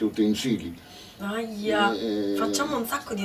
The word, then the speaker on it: utensili: Per esempio, cioè, sento anche in televisione, sento dire utensili, si dice utensili.